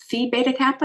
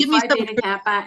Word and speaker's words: Phi Beta Kappa: Is it Phi Beta Kappa?